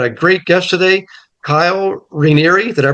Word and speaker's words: Raniere: We got a great guest today, Kyle Raniere. Did I pronounce it correctly, Kyle?